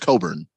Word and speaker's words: Cockburn: get well i got cockburn that's gonna be you don't even change that name i think it changed that name i think he's trying to get around it with the pronunciation it's pronounced coburn you keep saying that